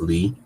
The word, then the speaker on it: Li: It's hard because her name is Li, which is pronounced Lee, right?